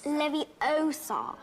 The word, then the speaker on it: Leviosa: someone's eyes besides you're saying it wrong it's Leviosa not an idiom far clever could this be